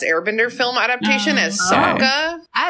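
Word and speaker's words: Sokka: Bender film adaptation as Saka as he's Saka. Yeah, they surely I knew that they pronounced it SOA in the movie for no reason.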